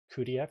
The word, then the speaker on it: cuDF: Um this one from Nvidia, which is cuDF, that's how we pronounce that.